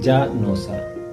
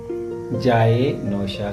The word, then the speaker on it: جائے نوشا: علاقوں میں بعض لوگ اکثر یہ لفظ بگاڑ کے ساتھ اور غلط تلفظ کے ساتھ بولتے ہیں، جا نوسا، جو کہ سراسر غلط تلفظ ہے۔ درست جملے کچھ یوں بیان کریں گے: جائے نوشا کہاں ہے، یا مجھے